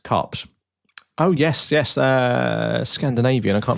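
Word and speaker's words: KuPS: And then the last one, if I do pronounce this correctly, I've done my homework on this, and I believe it is actually pronounced Cups.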